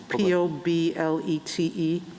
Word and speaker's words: Poblete: Arizona case, state versus, I'm pronouncing it wrong, Poblete, P-O-B-L-E-T-E. Federal law, well, how do you say it? Poblete. Poblete, okay. I should have said it in Spanish to start with.